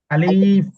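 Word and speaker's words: ألف: এগুলো ঠোঁটের সাথে লাগবে আর কি আলিফ যখন উচ্চারণ করবেন শেষ করবেন আলিফ আলিফ আলিফ আলিফ এভাবে আলিফ এভাবে ভাবে না আলিফ এটা লম্বা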